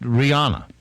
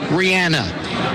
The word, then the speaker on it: Rihanna: And how do you pronounce it? Rihanna.